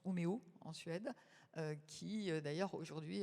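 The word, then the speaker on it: Umeå: Vienne a anticipé depuis 30 ans oua, ça se prononce Omeo en Suède qui d'ailleurs aujourd'hui a eu les honneurs de Marie-Claire.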